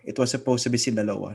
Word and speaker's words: Sinaloa: Like, di ba palagi yung sinasabi, sinyalo sa drug cartel, it's Sinaloa.